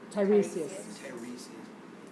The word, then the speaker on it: Tiresias: Tiresias.